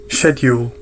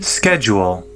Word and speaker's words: schedule: So we can see here, first of all, the British pronunciation, schedule, schedule, and the American pronunciation, schedule.